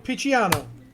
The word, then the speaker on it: Picciano: I can't pronounce David's last name. Picciano.